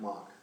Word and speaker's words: Mack: and so, but their name was Mack, M-A-C-K, they spelled it, and pronounced it Mock.